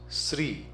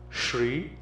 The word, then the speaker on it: Shri: SRI I and then the pronunciation comes SRI Shri s completely different pronunciation Shiva becomes Sia Shamu